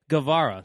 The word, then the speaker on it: Guevara: founded a W here going up against Sammy Guevara that's the pronunciation right there it's a golf clap ace